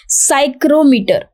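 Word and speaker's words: psychrometer: use cyclometer this is cyclometer now basically it is beginning with b p but p is a silent letter over here so the pronunciation of this word is cyclometer so if we say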